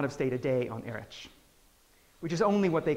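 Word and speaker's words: Erraid: Apparently, Erich is how it's supposed to be said.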